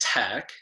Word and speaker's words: TEC: So we're the Energy Coalition, also known as TEC, pronounced TEC, which is a nonprofit organization with 45 years